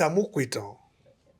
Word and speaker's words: Amupitan: And the person who said it didn't grow in Lagos, so yeah, No, it's Amupitan.